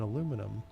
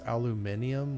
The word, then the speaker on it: aluminium: Okay, and then aluminum. Why do the Europeans pronounce this aluminium when there's only one I? Aluminum, not aluminium, but anyway, whatever.